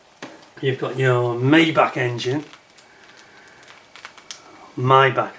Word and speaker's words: Maybach: got your maybach engine my back i think is the correct pronunciation but tell me look